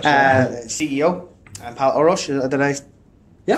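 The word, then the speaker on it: Pál Orosz: CEO, and Pal Orosz. Did I Yeah, pronounce that Pal Orosz, correctly?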